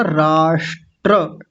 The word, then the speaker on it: राष्ट्र: तो इसका उच्चारण कैसे होगा? राष्ट्र ट्र ट्र बोलना है। राष्ट्र राष्ट्र नहीं कहना। राष्ट्र र को पूरा बोलना है। र पूरा होता है यहां पे।